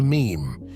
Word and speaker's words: meme: the French word m it should be pronounced to rhyme with cream I'm sure he didn't